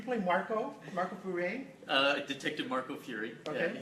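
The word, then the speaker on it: Furey: Detective Marco Fury. Okay. Yeah, Fury. Okay. He's not French. But Well, that's the way it's spelled. It says F-U-R-E-Y.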